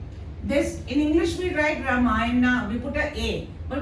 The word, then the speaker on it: Ram: because it is a holy book it is ramay but when we write we write like this in English in Hindi we write ra ramayan or ramayan I don't know ra ramayan okay we don't say ramay but in English since we put a people